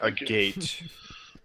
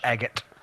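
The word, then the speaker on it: agate: It's like a gate. Oh, a gate. It's a gate, but it's pronounced eggot.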